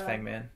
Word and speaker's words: Fangman: You know, I asked him, just FYI, I asked him about his last name a while back, and he said it's Fangman. It rhymes with Hangman.